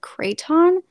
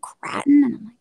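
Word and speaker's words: craton: if i'm pronouncing correctly it's c-r-a-t-o-n and i've only ever heard like one professor pronounce it and he said kraton but then i've i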